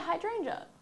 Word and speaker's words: hydrangea: before hydr versus hran I don't know oh pronounce there we go yeah yeah hydrangea okay there you go hydranga then yeah um